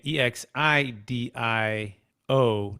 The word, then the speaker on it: Exidio: x i d i o dot co again e x i d i o dot co um dan the name um exidio